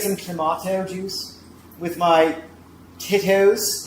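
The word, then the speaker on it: Tito's: Is there a special way to say that or is titos fine? Titos. Tito. Oh, it's like with a d. Yeah. Titos.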